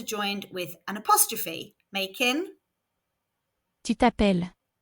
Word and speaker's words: tu t'appelles: with an apostrophe, making tu t'appelles, Remember, we don't pronounce the S and we have a double L again, so the E in the middle is making an sound. Let's hear it again.